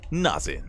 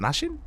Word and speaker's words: Naxin: player representing Mystery Gaming it is nazin is it nashin is it nashin God I've been saying it wrong all these years I'm pretty